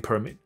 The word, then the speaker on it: permit: worth it，他觉得超值得的。那可能因为没工作吧，所以就去等吧。All right，好，然后下面再看下去。Sure，投票等，哈哈，好，很可怜，这就算了。等了一年 online。为了一个 hiking permit，好，所以去健行爬山需要 permit，等了一年。Yeah， all right，好，还有没有什么？Sure，等了12个小时，隔夜，为了一个大学的停车位 university